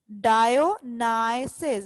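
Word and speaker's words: Dionysus: डायोनाइसिस, the word is डायोनाइसिस। इसको एक बार फिर से देख लेते हैं। डायो, इधर तक आपने इसको कैसे प्रोनाउंस करना है, डायो, और यहाँ नाइसिस, डायोनाइसिस।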